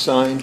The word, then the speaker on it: Sine: Is it pronounced Sine? Yes.